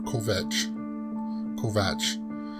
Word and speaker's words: Kovacs: just thinking about this Kovacs it's a Kovac or covet Kovach pockets say they pronounce they they're writing it kov a see but I it's pronounced Kovack okay there's a as